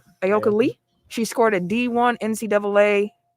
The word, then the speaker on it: Ayoka Lee: Kansas State's, how do you pronounce her name? Ayoka Lee.